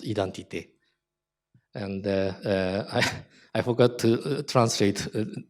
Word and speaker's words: identité: In case of French, the term is written like this and pronounced identité.